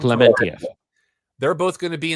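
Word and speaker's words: Pom Klementieff: Who has been announced as well as, I know I'm going to say her last name wrong. Palm Clementif. Is that how you say her last name? Clementif.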